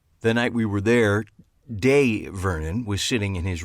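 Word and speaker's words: Dai: the professor sure and it's day excuse me you said die people who knew him on the west coast only pronounced it that way but his true friends from the East Coast pronounced it day I considered this for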